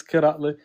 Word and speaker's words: Katler: Katler. Yeah, you say my name right. It's Katler.